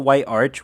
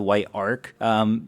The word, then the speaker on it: White Arch: Anyways, you go back to the White Arch, which I'm just now realizing I've been pronouncing as the White Ark, just ignore that.